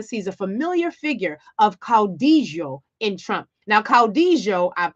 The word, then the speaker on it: caudillo: a Familiar Figure of Caudillo in Trump. Now, caudillo, I hope I'm pronouncing that correctly. It's a Spanish word.